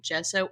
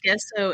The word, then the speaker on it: gesso: class or something and they were saying gesso or I read an article and they told you how to pronounce it and I was like oh my gosh I said guesso in that whole class and I still cringe